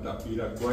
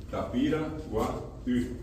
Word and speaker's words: Tapiracuaí: Llegando a Santaní está un lugar que se llama Tapiracuá, y decimos hoy, pero en realidad pronunciado correctamente es Tapiracuaí. Tapiracuaí. La I siempre fue una dificultad para, en este caso, los extranjeros, particularmente del tiempo de la colonia,